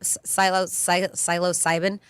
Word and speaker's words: psilocybin: Psilocybin.